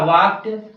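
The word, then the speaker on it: walk: है क्या है वॉक लेकिन इसमें जो है ल साइलेंट है तो क्या हो जाएगा वाक हो जाएगा अगला है वन वांट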